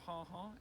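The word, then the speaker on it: ha-ha: landscape garden was the ha ha maybe should be pronounced haha because it's meant to be an expression of surprise as you come across it walking I along the lawn and then you suddenly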